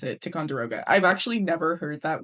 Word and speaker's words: Ticonderoga: number two pencil, but it's very specifically a tic derogga. Is that how you pronounce it? Ticonder I mean how else would you pronounce it? Ticonderoga.